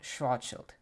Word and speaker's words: Schwarzschild: Today's episode is on an astronomer that I struggle to say the name of, and he is Karl Schwarzschild. I looked up the pronunciation to make sure that I was getting